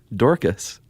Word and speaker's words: Dorcas: guilty of slandering her neighbors and his granddaughter Dorcas I love that name there's only one way to pronounce that right yeah d-o-r-c-a-s Dorcas I'm gonna